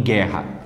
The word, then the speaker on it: guerra: é um dígrafo em guerra perceba que o u Ele não é pronunciado não há pronúncia do U então eu não falo